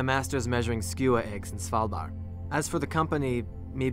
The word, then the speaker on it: Svalbard: Well, it's nice to know I didn't really mispronounce Svalbard. I mean, he had kind of like a little twist on it, slightly, that I wouldn't even know how to begin replicating, but the basic pronunciation is Svalbard.